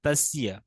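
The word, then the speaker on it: तस्य: ত দন্তস্য জফলা তাসিয়া, উচ্চারণটা হতে হবে তাসিয়া, ঠিক আছে।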